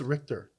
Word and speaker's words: Richter: But his name is Richter. He's actually saying it right.